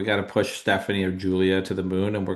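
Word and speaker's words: Giulia: Yeah, it's pronounced Yeah, Julia, but it's spelled like Gulia.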